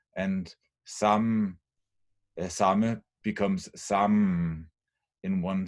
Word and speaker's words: samme: So what actually happens is that the final E is not pronounced, but the M is prolonged, and thus hjemme becomes hjemme in one syllable, and samme becomes samme in one syllable.